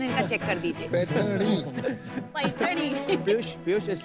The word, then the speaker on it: पैठनी: स्लोनी, पैठनी, वो जरा प्रोनाउंसिएशन इनका चेक कर दीजिए. पैठनी।